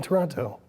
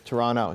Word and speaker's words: Toronto: say Toronto though there we don't pronounce the last T so I can do that not Toronto yeah it's Toronto so just Toronto there you go Toronto